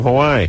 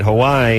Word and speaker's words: Hawaii: on for more from Hawaii yeah how come we always call it Hawaii and everyone in Hawaii calls it Hawaii it's like a glottal table kind of like an apostrophe and then in Depaz